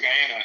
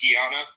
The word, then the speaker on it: Guyana: like, yeah, you know, because my family's from Guyana, and she would literally be like, it's pronounced Guyana.